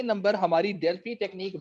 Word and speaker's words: Delphi: नहीं रहा रिटर्न है तो प्रोनाउंस डेल्फी होता है वैसे एफ के साथ ठीक है जी तो